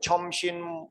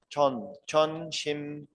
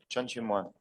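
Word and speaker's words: Cheonshimwon: A lot of people say Chomshinwan or Chongshimwan or Chongshimwan. It's Chonshimwan. Chonshimwan.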